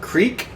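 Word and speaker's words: kriek: framboise which is raspberry they have a creek which is spelled k-r-i-e-k which is cherry they have a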